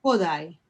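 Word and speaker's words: Kodály: En realidad es en la primera letra porque todas las palabras húngaras son esdrújulas. Entonces es Kodai.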